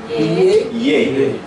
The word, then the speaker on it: J: Yeah.